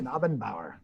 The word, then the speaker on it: Knabenbauer: You pronounce it? Yeah, it's very German. Like a Knigget. Nigget. Mhm. Nabenbauer.